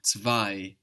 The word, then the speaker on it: zwei: T-W-O in English, and zwei in German. We have the Z like TS, we have the W like a V, and then we have that EI giving us I, zwei.